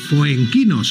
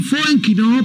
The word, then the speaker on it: Foenkinos: Es este número 2 de David Foenkinos, o bueno, pronunciado francesamente, Francisman David Foenkinos.